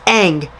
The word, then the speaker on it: Aang: they butchered Aang and how they pronounce his name wrong like Ong or something like that it's Eng I mean come on now